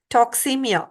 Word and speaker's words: toxemia: to toxins toxins everywhere we call it as toxemia which rhymes with anemia so your body when